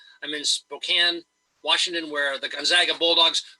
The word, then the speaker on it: Spokane: right now I'm in Spokane Washington only it's pronounced Spokane Washington it's spelled Spokane but it's pronounced Spokane I'm in Spokane Washington where the Gonzaga Bulldogs who would have